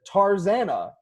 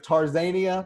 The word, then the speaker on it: Tarzana: there and the name of the neighborhood is Tarzana ta RZ a nd it is I know I will give Tarzan eeeh which is a loose pronunciation but definitely still